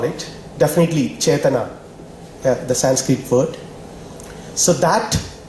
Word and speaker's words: Chaitanya: I'm sorry, it's a Malu pronunciation of the Sanskrit word. Okay, Chaitanyam, in Malayalam we call it, definitely Chaitana, the Sanskrit word.